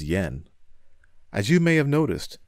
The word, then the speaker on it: JPY: akiyama from jpy inc it is written as jpy and pronounced as yen as you may have